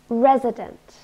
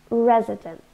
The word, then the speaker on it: resident: Resident, three syllables, and we stress the first one. Resident.